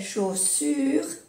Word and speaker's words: chaussures: Es un poco difícil, creo, para los hispanos pronunciar chaussures. Aquí hay dos S. La otra es z, z, y esta es s. Chaussure. C, sh, sh, y la CH se pronuncia sh.